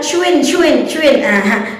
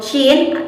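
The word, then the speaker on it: شين: Bukan hanya sin besar, terkenal pula dengan sebutan cuin. Padahal itu adalah suatu kesalahan yang tidak disadari. Maka dari itu mari kita sama-sama meluruskan bacaan huruf shin, tempat keluarnya huruf shin, serta pelafalan-pelafalannya.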